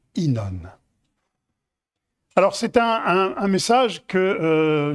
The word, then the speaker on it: Ynon: va découvrir ensemble InOne oui je dis bien prononce bien inan alors c'est un message